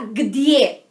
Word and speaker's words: где: Então se fala где. E se escreve assim.